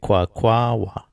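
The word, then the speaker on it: Kwakwaka'wakw: All right, so it's spelled KWAKWAKA hyphen WAKW. So to me, that sounds like Kwakwawa.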